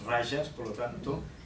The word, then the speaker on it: rajas: rayas y tazas actual no lo pronunciamos a la manera española más a la manera portuguesa si le decimos rajas la jota en sánscrito es como suena como en portugués es rayas por lo tanto y